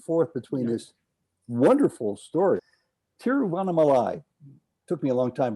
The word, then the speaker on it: Tiruvannamalai: weave back and forth between this wonderful story tiruvannamalai took me a long time to learn how to pronounce that teriovanamalai is where you spend a significant portion of